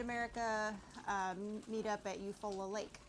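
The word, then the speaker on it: Eufaula: Uh, the YouTube meetup, the Mid America uh, meet up at Eupola Lake. Eupfalla Eupfalla.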